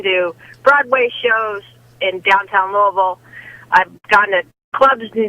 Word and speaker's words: Louisville: go ahead kim yeah it's like you say louisville it's not louisville it's louisville you want all half of it got it i've been doing my best to say louisville all day long just put marbles in your mouth and you can say louisville um but anyway as